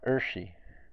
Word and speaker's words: ṛṣi: up towards the roof of my mouth and make it a strong retroflex, a distinct retroflex sound, and use it to make a vowel sound, it goes r, r, r. Now, you might not be adept at fluttering your tongue there, so that's okay. If you just make that sound, you're close enough.